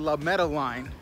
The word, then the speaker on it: La Madeleine: So we ate at La Madeleine. That's how they told me it's pronounced.